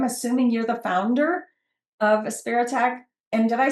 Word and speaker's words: Aspiritech: I'm assuming you're the founder of Aspiritech. And did I say it right? You are saying it right. It is a spirit tech. Okay. Uh, A for autism, spirit, and tech all flow well together.